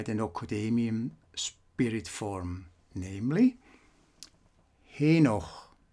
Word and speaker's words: Henoch: nocademian spirit form namely henoch pronounced as not enoch enoch that's a different name and was used by